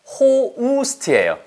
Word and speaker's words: host: 이거 호스트 아니에요. 호우스트예요. 알았어요?